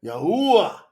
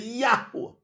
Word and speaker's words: Yahuwah: Can't be ooh, yeah, Yahuwah. I know it. Easy work. A yud is pronounced like y. That's why you say Yahuwah.